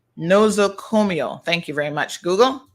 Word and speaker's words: nosocomial: So let's get the correct pronunciation. Hold on. Nosocomial. Nosocomial.